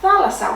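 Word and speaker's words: θάλασσα: Ithalassa, a feminine noun with ending of a that has an accent on the third syllable from the end.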